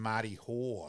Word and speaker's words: Marty Hoare: So, that they've lost, as we said, let's get his correct name pronunciation, Andy Moritz Wakefield and Marty Hoare.